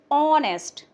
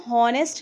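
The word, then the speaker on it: honest: ऑनेस्ट, इसको हॉनेस्ट नहीं ऑनेस्ट पढ़ते हैं, एच इज साइलेंट हेयर, तो ओ साउंड किसकी होती है, वॉवेल की होती है, इसलिए एन ऑनेस्ट मैन।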